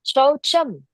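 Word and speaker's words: शौचम्: We have to pronounce it as Shaucham.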